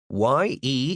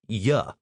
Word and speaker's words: ye: Ye is not pronounced with a long e sound. It's more like ya, never ye.